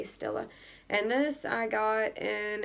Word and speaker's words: Stila: by this brand and I don't think I'm pronouncing this right Stella s i l a Stila and this I got